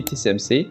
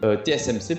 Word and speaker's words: TSMC: La dernière fois notamment, je vous avais parlé du fait que je comptais acheter TCMC. TSMC pardon, que je prononce bien cette fois-ci.